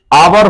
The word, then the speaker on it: hour: जैसे आवर, आवर होता है HOUR, आवर होता है H से